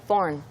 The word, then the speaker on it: foreign: Like foreign. Foreign language. 마치 foreign. F-O-R-N인 것처럼. Yeah, like foreign. 네. Just say foreign.